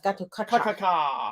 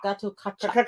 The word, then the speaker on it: Gatotkaca: It's Gatotkaca. Gatotkaca.